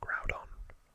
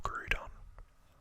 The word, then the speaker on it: Groudon: And I've always loved Groudon, or Groudon, however you want to pronounce it.